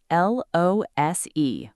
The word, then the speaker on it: lose: First, lose, l-o-s-e, one o. It is a verb. It means to not win, to not have something, or to not be able to find something. Pronounced lose, like shoes, like news.